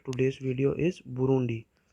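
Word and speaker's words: Burundi: So last one ऑफ the today's video is बुरुंडी। सो ये आज का लास्ट होगा। सो इसे प्रोनाउंस किया जाता है बुरुंडी।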